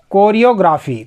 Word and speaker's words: choreography: CHOREOGRAPHY, कोरियोग्राफी।